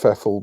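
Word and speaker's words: Pfeffel: know it's just pronounced fefl but I like to pronounce the silent P because it's funny but regardless yes I'm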